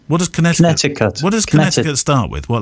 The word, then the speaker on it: Connecticut: from West Hartford in Connecticut yes he says most commonly spoken with a silent second see sorry keV Connecticut no